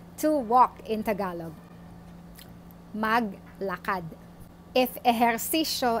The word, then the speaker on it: mag: just have to add the word mug which is M AG this is pronounced as mug before the base form